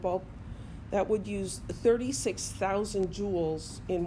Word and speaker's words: joule: It's got a weird spelling, Joule, but it's pronounced joule, just like a gem, jewel, Jewel.